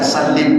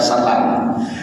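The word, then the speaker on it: وسلّم: Ingat, kalau sebelumnya dibaca sholli, maka salimnya baca salim, jangan baca salam.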